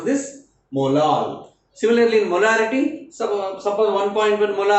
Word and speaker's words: molal: It is 1.1 molal. How do you pronounce this? Molal. Similarly, in molarity, suppose 1.1 molar, okay, molar we are pronouncing. This is molal.